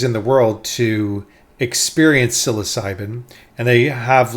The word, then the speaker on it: psilocybin: siloc silos cybin I think that's how you pronounce it psilocybin let me look again um silos cybin yes psilocybin SOS cybin okay so psilocybin I guess is